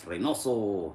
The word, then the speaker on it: Reynoso: And then my last name is spelled R E Y N O S O. That's Reoso.